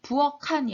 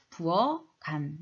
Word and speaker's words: 부엌 안: 키읔을 기역으로 먼저 받침을 만들어주고 그 다음에 연음해야 되니까 부엌한이 아니라 부엌간 이렇게 발음해야 되겠고 값어치도 마찬가지입니다.